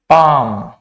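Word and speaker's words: palm: भी L silent होगा यहां पर भी एल साइलेंट होगा इसमें देखते हैं काम पाम एक और वर्ड है जिसको हम बोलते हैं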